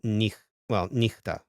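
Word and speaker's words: νύχτα: And it sounds like he before e and e, and it sounds like ch before every other consonant, like echo and nichta, right?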